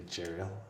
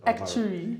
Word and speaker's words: actuary: You're an actuarial, as you pronounce it. Actuary. You're an actuary.